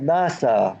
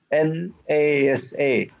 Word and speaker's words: NASA: a speaker pronounce it he said NASA he did not say mas a correct so he's like